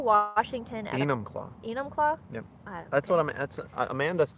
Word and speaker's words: Enumclaw: We are in Enumclaw, Washington. Enumclaw. Enumclaw?